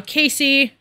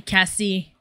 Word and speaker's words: Casey: She can't pronounce Casey because she's French, makes sense. So she's saying Cassie. But it's not, she's not trying to say Cassie.